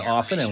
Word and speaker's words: often: Don't pronounce the T and often.